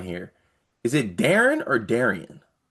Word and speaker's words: Darian: Is it Darren or Darian? It's spelled Darian. But I it's Darren. always hear people say Darren.